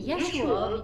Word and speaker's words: Yeshua: When Yeshua began his 3-year mission, and I'll stop a moment here, that's the correct pronunciation of Jesus' name, and that's according to Professor Dr. Elaine Pagels of Princeton University, who has researched those